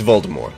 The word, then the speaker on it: Voldemort: Uncle Voldemort. It's Voldemort. The T is silent.